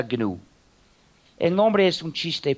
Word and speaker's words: GNU: El sistema se llama GNU, es decir, GNU, y se pronuncia GNU.